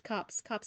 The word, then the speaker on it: copse: It's straight up pronounced cops? Oh my god. So it's cops of trees.